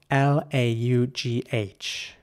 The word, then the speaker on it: laugh: as well is that this word is spelled GH at the end but it's it's really pronounced you know like an F laugh and laugh here's an